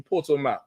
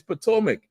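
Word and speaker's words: Potomac: I said, "No, I mean Porto." He said, "Nigga, it's Potoic."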